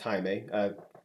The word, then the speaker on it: Jaime: Jaime, spelled like Jamie, but pronounced Jaime.